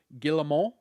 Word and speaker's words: Guillemot: During that call, the Ubisoft CEO, I'm going to try to not say the T this time, Guillemot, there, I think I said it right that time, said that the group